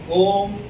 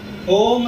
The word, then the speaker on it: om: can't practice om silently om has to be pronounced the sound has to be very clear so to pronounce this oh the very first thing that you have to do is practice m the long wavelength now we will